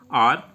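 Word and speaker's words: hour: कि हम इसमें पढ़ेंगे आर। तो जो ये आर होता है, काफ़ी बच्चे इसे हावर पढ़ते हैं, हावर नहीं होता, ये आर होता है जिसमें एच साइलेंट होता है।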